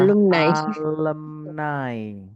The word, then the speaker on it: alumni: Alumni yang betul adalah alumnai. Alumnai. Asik ya bahasanya bagi kita. Alumnai. Jarang yang dengar alumni.